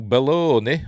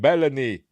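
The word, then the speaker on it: Belloni: is sources told PS Matthew bellone or bellany however you pronounce his name I'd say it's pron it's pronounced bellany I am not full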